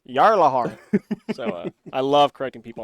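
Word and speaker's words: Gjallarhorn: Yeah, there's a weapon in there called Galahorn, but it's actually pronounced Jarlahorn.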